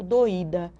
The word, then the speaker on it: doída: Mas se eu escrevo, eu estou com a cabeça um pouco doída, o i fica sozinho, dá. É só observar como a gente pronuncia, tá certo?